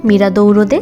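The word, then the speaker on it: miradouro: এই একটা ভিউপয়েন্ট হলো মিরাদৌরোদে সান্তালুজিয়া আর ভিউপয়েন্টের পর্তুগিজ উচ্চারণ হলো মিরাদৌরো তো এরকম অনেক ভিউপয়েন্ট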